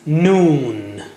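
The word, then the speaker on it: نون: How do you say noon? Touch the tip of the tongue to the upper gums a little above the roots of the teeth, as you see in the picture.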